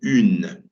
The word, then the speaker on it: une: For example, in French, we've got the U sound, which is always quite tricky to pronounce for beginners, okay, as in the word une, okay?